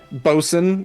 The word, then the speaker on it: boatswain: And half the things are spelled differently than how they're said, because like sailors just had terrible pronunciation and they just slurred most everything. Bosun, yeah, which is boatswain, or even forecastle, which is forecastle, and they're like, fuck that, forecastle.